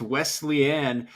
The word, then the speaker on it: Wesleyan: So next week, to wrap up the regular season for you guys get North Carolina, I believe it's pronounced Wesleyan University, a squad currently 2-4.